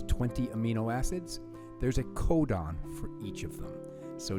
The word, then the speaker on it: codon: The word is codon. Everybody say codon. Good. What does that sound like? It sounds like the word code.